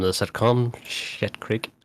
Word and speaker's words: Schitt's Creek: Shit Creek. It's spelled SCHITT, Schitt's Creek.